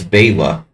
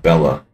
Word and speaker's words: Bela: It's Bela, not Bella. In the Western media always always called him Bella because of the actor and people fucking up, you know, Hungarian pronunciations.